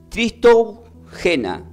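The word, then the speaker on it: Χριστούγεννα: Se pronuncia como Tristorgena.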